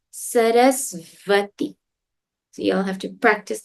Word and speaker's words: Sarasvati: Now please remember, it's not swa, it's sva, right? The sound we learned was v. So it's not Saraswati, it's Sarasvati.